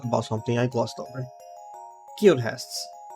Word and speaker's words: Guildhest: Guildhests. That I thought so little about that I pronounced as guildheists originally.